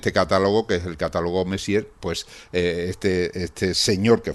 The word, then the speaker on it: Messier: que es el catálogo Messier, pues eh este señor que fue un un astrónomo que vivió por allá por por 1700, señor Messi, pero no se escribe igual que el señor Messi en francés, pero bueno, señor señor, ¿no?